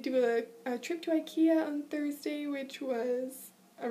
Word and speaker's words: IKEA: actually you call it eeka in Swedish because I in English is pronounced e in Swedish so fun fact um